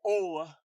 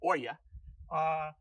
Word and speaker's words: olla: There's a slight indentation around part of the rim, what we call olla, others might pronounce oya.